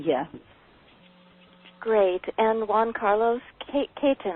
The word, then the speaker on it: Caton: And Juan Carlos Caton, I believe that's the way you pronounce the last name. Is that right? Yes, it is Caton.